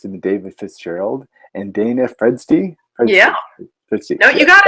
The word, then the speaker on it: Fredsti: Well, I've been Tom, your friendly neighborhood atheist, and it's been David Fitzgerald and Dana Fredsti. Yeah. Fredsti. No, you got it. Hey. Don't feel bad. It's been mispronounced all my life, so I'm used to it.